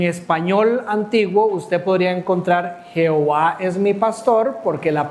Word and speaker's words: Jehová: Y eso como resultado dio algo parecido a Yahowa o Yahowa, ¿verdad? Conforme pasaron los años, cuando otros cristianos traducían los textos, al no poder pronunciar el hebreo antiguo, tradujeron esta palabra a lo que nosotros conocemos ya de manera muy cercana, la palabra Jehová.